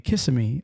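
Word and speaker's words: Kissimmee: similar right it it reminded me of a town here in Florida that everybody Mis mispronounces when you first see it and that that is CMI CMI Florida especially the little kids and everybody when they see it they say kiss kiss kiss me Kissam me Florida in fact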